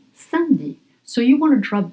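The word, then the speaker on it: samedi: But we pronounce sandi.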